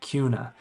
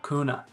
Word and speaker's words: Kuna: first of all Cuna k n a is pronounced Cuna not kuna and the location of Cuna is south of